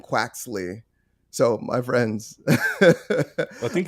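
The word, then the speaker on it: Quaxly: So it's Sprigatito, Foy Coco, and Quaxley.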